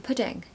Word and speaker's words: pudding: would you like for pudding pronunciation dip is two syllables okay so put the stress on the first part number four is Orchard